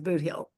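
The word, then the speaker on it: Bootheel: look at the map but the way it's pronounced as booill so anyway it's named after that but it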